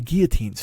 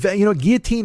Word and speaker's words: guillotine: There should be guillotines. Fuck, you know what? Instead of, guillotine rhymes with vaccine. Vaccine, guillotine.